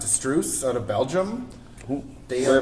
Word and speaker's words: Struise: The next two are from, it's pronounced Struise out of Belgium.